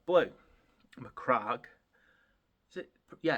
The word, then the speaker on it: Macragge: to paint ultramarines with mcra blue mcra is it yeah it is pronounced mcra isn't it Craig Craig anyway that